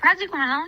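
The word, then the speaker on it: praziquantel: How do you pronounce that? Yeah, Presquantel.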